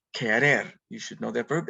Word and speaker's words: querer: very important verb that q u is pronounced like a hard C or k querer you should know that